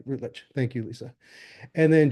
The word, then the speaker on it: Routledge: Did I pronounce that right? Routledge.